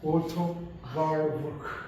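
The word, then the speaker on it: Warburg: 독일 발음하면 워터크 이렇게 독일 그분은 로벨상을 한 번 받으시고 두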